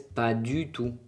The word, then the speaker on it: pas du tout: Et la T no suena al fin.